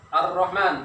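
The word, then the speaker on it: الرحمن: Pertama yaitu Ar-Rahman. Betul kan Ar-Rahman nih? Betul. Alif lam, kemudian langsung masukkan ke ro. Ya. Lamnya tidak dibaca, langsung baca ke ro.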